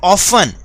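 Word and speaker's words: often: regular होते हैं दे ऑफेन यहां पर यह क्या है ऑप्शन नहीं बोलना बेटा क्योंकि टी इसमें साइलेंट है तो हम इसे बोलेंगे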